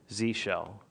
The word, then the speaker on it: zsh: do we pronounce this in America I'm thinking Z shell if you're Canadian its Zed shell or European maybe what are some of